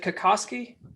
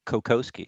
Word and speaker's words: Kokoski: have with me kakoski do i do i pronounce that right is it kakosky it it that is actually is the correct polish pronunciation but my dad raised me to say kokowski so that's what i